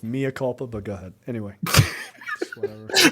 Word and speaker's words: mea culpa: I mean, it's very weird that you guys keep mispronouncing that word. It's mea culpa, but go ahead.